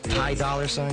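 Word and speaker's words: Ty Dolla $ign: Am I pronouncing it right? Ty Dollar Sign?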